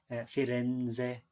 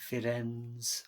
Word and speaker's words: Firenze: people might pronounce it firenze not firings or whatever you know so